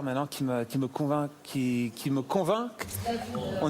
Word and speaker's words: convainc: c'est bien aussi convain qui me convainc en fait tu prononces pas le C si tu veux parler